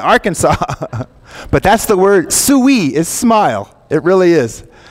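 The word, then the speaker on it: souri: wouldn't believe what the word for smile is it's an Arkansas fan suey my kid that's how you say it you say suey that means smile it took me a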